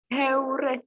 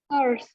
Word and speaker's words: heures: Heures, bacanya. Salah, madam. Huruf H dalam bahasa Prancis dilafalkan atau tidak? Tidak, madam.